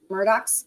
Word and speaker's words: Murdoch: Yeah, Hugh said, just like the good old boys, the Murdochs is, how do you say their last name?